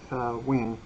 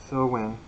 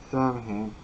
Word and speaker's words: Samhain: Pronounced like Sa-win, So-win, or Sa-vin, although you might hear it pronounced in modern American English as Samhain.